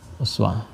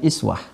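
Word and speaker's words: أسوة: memahaminya ini damah ya Uswah damah ya kita baca ini dengan riwayat hafus dari asim hafz an asim ya laqanaakum Fi rasulillahi Uswatun Hasanah Ini bisa juga dibaca dengan iswah ada dua cara membacanya I ini kasrah kasrah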